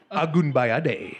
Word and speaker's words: Agunbayade: Agunbayade.